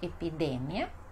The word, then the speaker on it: epidemia: E depois temos no espanhol epidemia e no português epidemia. Epidemia. Então, sílaba mais forte, mia.